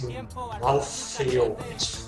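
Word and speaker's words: Malthael: them, but losing Legion, who's what is it, Malthazard? I still don't know how to say it. I just call him Malt. Malt, yeah. Yeah. He is a beast. It's Malthiel. Malthiel, yeah. It's from Diablo.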